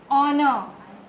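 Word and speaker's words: honour: the word H ओ एच ओ एन ओ यू आर बेटा य पर एच जो है ना इस साइलेंट लेटर एंड ट इज वाई वी से ऑनर एंड ट इ वाई व से न एच इ साइलेंट और इसीलिए इसके पहले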